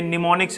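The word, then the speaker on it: mnemonics: निमोनिक्स यूज होते हैं यह मॉर्निंग पड़ते हैं वैसे शो में हम लगता लेकिन एंड साइलेंट होता है अब निमोनिक होते हैं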